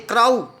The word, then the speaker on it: crow: Means B, when we pronounce such words, at the last the sound comes O, not cow, crow. We can't say crow, we say crow.